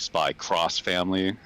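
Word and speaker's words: SPY×FAMILY: i've seen other things japanese titles where there's an x at the end and it's you're supposed to pronounce it as cross hmm so i don't know if it was like spy cross family it's like we're doing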